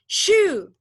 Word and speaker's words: shoe: Jadi dia nggak boleh dibaca sebagai S biasa. Sesuatu yang kalian sepatu itu adalah bunyinya ini doang. Jadi bacanya gimana? Shoe. Ayo bacanya itu pakai H gimana? Shoe. Shoe. Sebelum setelah S kamu tambahin H sedikit.